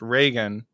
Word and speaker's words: Reagan: should have clarified this my name is actually pronounced Reagan but that's that's totally fine a lot of people pronounce it wrong it's a little confusing